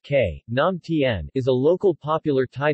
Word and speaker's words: Khanom tan: Kennon tan Tai kam tall pronounced ke naam Tien is a local popular